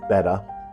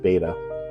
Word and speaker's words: betta: Today I'm going to do a species profile on hybrid betta fish, and it actually is pronounced betta. I have always pronounced it beta, but it actually technically is pronounced betta.